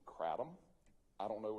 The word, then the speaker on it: kratom: Now, there's different types, different veins, when we say veins or strains, quote-unquote, of kratom.